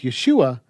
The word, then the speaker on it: Yeshua: of yehoshua up with Yeshua then we can easily see what would be removed to complete the contraction by taking out the syllable ho and Contracting what's left we get Yeshua yud Sheen VAV aim